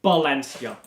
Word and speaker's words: Valencia: But the Spanish V is a B sound. So Valencia is pronounced Valencia.